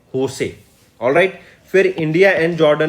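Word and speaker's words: José: एक चीज और, जब ये JOSC लिखा होता है ना, इसको प्रोनाउंसिएशन कैसे करते हैं? होसे।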